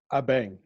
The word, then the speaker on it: Abeng: And then you also have Abeng. Am I pronouncing that correctly? Abeng.